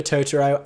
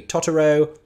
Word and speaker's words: Totoro: my video about that I did have comments saying I was pronouncing it wrongly incorrectly I apologize uh because the pronunciation of it within the context of the show is a Japanese pronunciation so I assumed that I was anglicizing it accurately but if it's meant to be Totoro then there you go